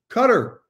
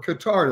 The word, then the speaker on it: Qatar: airline of the year it's cutter or qatar depending on how you want to pronounce them i'll be talking with